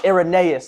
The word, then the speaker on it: Irenaeus: Irenaeus, I got it. Irenaeus. Irenaeus. That is correct. And Irenaeus. if you do not know who Irenaeus is, Ireneo. and if you do not know who Irenaeus is, Y si no saben I quién am